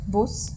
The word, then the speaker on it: Bus: Well, unless a word ends with an s, of course, then you can't boss because there's no vowel following like in the word bus, which is like the English boss.